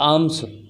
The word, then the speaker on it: alms: 4ALMS लिखा है, इसको बोलेंगे आर्म्स, इसका एल साइलेंट रहेगा और आर्म्स मीन्स भीख या भिक्षा।